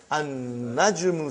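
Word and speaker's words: النجم: Now we have an-najmu. So how will you pronounce, brother? An-najmu ba'idun. You did not pronounce lam.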